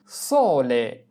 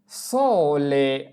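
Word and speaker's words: sole: যেমন সলে সলে সলে মানে সূর্য। এস ও সো এল এ লে সলে মানে সূর্য এরপরে সেরা সেরা সেরা মানে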